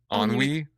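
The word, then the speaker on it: ennui: the apathetic ones, more with the emotion of onway or onwe. You're French. How do you pronounce it? Onwei.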